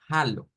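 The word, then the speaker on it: Hallo: el Hola en alemán hemos visto que se puede pronunciar como Aló vea prácticamente como como decir eh Aló en español pero con un sonido de una J entonces suena a Halo bien Halo con una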